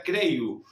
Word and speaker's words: creio: Si bien está escrito creyo, se pronuncia creyu.